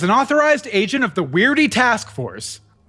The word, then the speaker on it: W.E.I.R.D.E.: Sir, as an authorized agent of the Weirdy Task Force, the Weirdy Task Force, we usually just say weird. The E is silent.